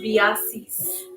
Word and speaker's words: Biasi: you say it again so it's pronounced biases yeah that's pretty that's people for the most part call me and i think it's